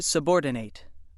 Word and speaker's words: subordinate: The other pronunciation of word 17 is subordinate. subordinate. This pronunciation is used when word 17 functions as an adjective meaning lower in rank or position or as a noun meaning one who is in a lower position or under the orders of someone else.